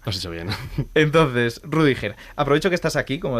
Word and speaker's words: Rüdiger: A ver, en alemán sería algo así como Rüdiger, pero lo has pronunciado bien, Rüdiger está bien.